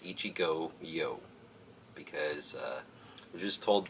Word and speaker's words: Ichigoyo: who works there, that it's actually two words, Ichigo, which is strawberry in Japanese, and yo, which is short for yogurt, which is, needless to